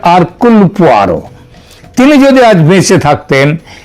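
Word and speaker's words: Hercule Poirot: Agatha Christie এবং তার গোয়েন্দা আরকুল পোয়ারো, এটা যদিও ওই উচ্চারণে এটা হয় হারকিউল, কিন্তু অ্যাকচুয়ালি উচ্চারণটা হচ্ছে আরকুল পোয়ারো।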